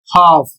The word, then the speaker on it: half: दूसरा शब्द है एच ए एल एफ और इसका प्रोनंसिएशन होता है हाफ और इसकी मीनिंग आधा अगला शब्द है डब्ल्यू ए एल के और इसका उच्चारण होता है वॉक और इसकी हिंदी होती है चलना।